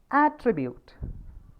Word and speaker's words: attribute: The third example is attribute. If it is, the stress is forming on the first syllable, then it will become attribute. If it is on the second syllable, please go through the phonetic transcription again. Attribute. Attribute, not attribute.